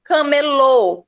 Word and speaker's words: camelô: Camelô, ou seja, o som se desloca para a última sílaba, tornando ela mais forte, ó, camelô, mais forte é o lô.